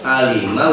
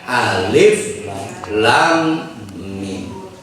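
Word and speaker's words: الم: Jadi alamat tidak ada, alima wis pindah ning Perumnas Ciracas. Di seberang wis pindah. Iya benar. Nah maka kita nggak bisa bacanya alamat, nggak bisa juga bacanya alima, dibaca dengan alif lam mim.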